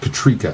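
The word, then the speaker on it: Katryca: How was it pronounced? Katrika? Katrika, thank you.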